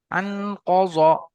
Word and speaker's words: أنقض: أنقذ ظهرك জি, কাজা বলবেন না, কফ উচ্চারণ করার সময় কফ গোল, মুখটা গোল হয়ে যায়। ক, আন কজ, কজ।